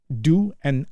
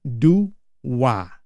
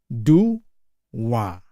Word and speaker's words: dua: So here if I eh put into syllables do and a do a do a but we usually add like there is a w there.